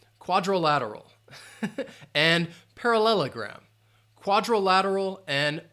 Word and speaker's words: parallelogram: all right quadrilateral and parallelogram quadrilateral and parallelogram so parallel uh then you have that schah parallelogram parallelogram five syllables par parallelogram and quadrilateral quadrilateral um wait